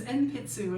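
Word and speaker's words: 鉛筆: which one of these is pencil which is npitsu is how you say it.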